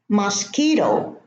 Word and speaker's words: mosquito: Mosquito, no U.